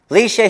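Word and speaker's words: Leshia: I am pronouncing it right. Yes, I'm on fire today. All right. Leisha here.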